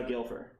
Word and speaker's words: Gilfer: No, it's the Gilfer. You know, he's like a gilf, right?